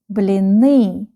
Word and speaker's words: блины: БЛИНЫ. БЛИНЫ. БЛИНЫ. The last syllable is stressed.